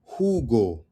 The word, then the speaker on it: jugo: Now let's look at the Spanish J sound. Spanish J. Okay? The Spanish J sound is like a soft G before the E or I, which makes that type of sound, right? So we got, right? It's juice, that's me, or orange juice. In Spanish is jugo, jugo, jugo.